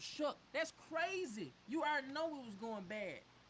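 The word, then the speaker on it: Shough: It's spelled Show. That man's last name is pronounced Shuck.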